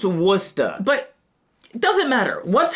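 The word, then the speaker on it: Worcester: What's happening in Warchester? Wora. What? It's pronounced Worca.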